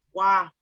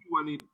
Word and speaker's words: Juanita: Prince, for the record, my J is silent, so it's Juanita. Thank you. Don't use the J. Okay. Thank you. Sorry, Juanita. Yes. Juanita.